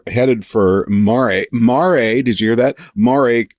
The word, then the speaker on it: Mare: So is that really how you say it? Mare? Yeah. Not mare? Yeah. Mare? No, mare is horses, mare is big stony pits.